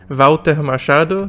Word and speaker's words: Walter Machado: has been very very productive and yes it's pronounced Volta Machado since he is from Zil but I will